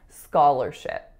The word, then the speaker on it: scholarship: listen to these vowels the first one is ska the second syllable is ler even though it looks like lar it is not scholar it's ska ler and then the final syllable is ship just like a ship that sails in the sea scholarship our next word